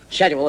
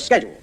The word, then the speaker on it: schedule: And he said to me, the word is not schedule, it's schedule. S-C-H is sk, not sh. And I said, well, no, I don't think so. I think it's schedule.